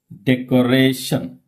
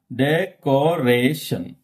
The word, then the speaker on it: decoration: Look at this word. Decoration. How many syllables here we have? Decoration. Okay. So last but one. That means, okay. Decoration. Decoration.